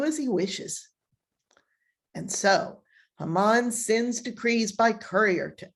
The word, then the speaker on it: Haman: And what is also interesting is that Haman, I call him Haman, whatever, it's pronounced Haman, sends the orders nearly a year in advance of the chosen date.